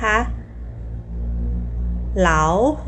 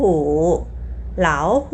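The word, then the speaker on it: 老虎: ออก เสียง 3 กับ 3 อิฐ นะ คะ เหลา หู เหลา หู จำ ได้ มั้ย คะ เหลา หู คือ สัตว์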